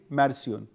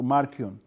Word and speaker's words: ماركيون: حاجه هرتقد هرتقد هرتقد مارسيون او ماركيون وارفر الاسم بيتنطق ازاي البعض بينطقوا بالكي البعض بينطقوا بالاس او السي ف لكنه كان ماركرون